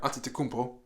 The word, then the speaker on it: Antetokounmpo: Yeah, I said it right, Antetokounmpo.